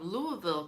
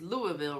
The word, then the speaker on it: Louisville: And Julie Nicholson from Louisville, Kentucky. I hope I said it right. It's Louisville, right? I know a lot of people say Louisville, but they're wrong.